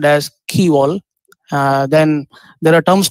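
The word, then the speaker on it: quay wall: bar break water key wall which is actually pronounced as key wall uh then there are terms called as dredging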